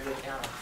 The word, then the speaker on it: Lukianoff: So without further ado, I give you the president of FIRE, Greg Lukianoff.